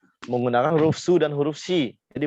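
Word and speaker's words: し: Si itu kalau teman-teman mau menulis dengan huruf romaji atau alfabet ya, itu tuh bacanya shi ya, SHI. Jadi bacanya bukan si, tapi shi.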